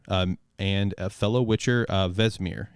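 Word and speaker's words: Vesemir: and a fellow witcher vesmir is that how you pronounce it vesimir did i nail it vesamir thank you i was close i did all right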